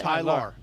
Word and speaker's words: Tylar: I say that because his name is spelled Ty-Laur, so I can pronounce it. Tyler.